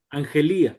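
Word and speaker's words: ἀγγελία: Angelía, correcto. El acento es acá. Ujú, Angelía.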